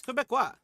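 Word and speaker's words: Québécois: Yeah, it's Quebecois. Pronunciation.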